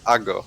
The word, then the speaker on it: Ago: It's like a weird mix of Polish and English, I guess. In Polish, we say Ago.